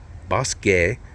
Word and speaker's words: Bosque: gonna go down back to the Bosque Trail boss gay say it correctly caution slow down I don't